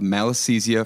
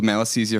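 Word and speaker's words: Malassezia: Sebm is caused by a lipopilic commensal yeast called malisthesia fervor which is spelled m a l a ss e z i a fur r fur r.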